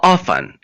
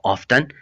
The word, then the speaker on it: often: हाउ ऑफन, इसको आप हाउ ऑफन या हाउ ऑफ्टन प्रोनाउंस कर सकते हैं। अमेरिकन इंग्लिश में इसको ऑफ्टन, OFTEN को ऑफ्टन प्रोनाउंस किया जाता है।